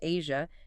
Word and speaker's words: Aja: The very name AA, pronounced Asia, came from a friend's Korean wife and symbolized to him a sensual, sophisticated aura.